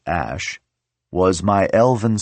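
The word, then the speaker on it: Æ: said the unknown variable Ash a ligature from Latin and Old English pronounced Ash was my Elven spelling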